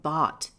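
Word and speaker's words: Bat: Nagamadi in pre-arr times was the spiritual center of bot which I represent as b a t for pronunciation and comparison to ball.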